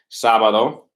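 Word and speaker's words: sábado: be solid oh okay sabado sabado saturday knows the accent on the a once it's on sabbatical it's solid oh right that accident just tells you where to put your emphasis in your voice so sabado is Saturday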